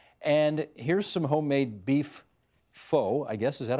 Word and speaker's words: pho: Now, you apparently have changed because we've looked at your Instagram account, and here's some homemade beef pho, I guess. Is that how you pronounce it? P-H-O?